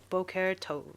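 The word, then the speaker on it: בוקר טוב: Boqer tov.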